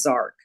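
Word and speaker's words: Jark: eight his name is zark it's spelled j-a-r-k but it's pronounced zark and he's the trickster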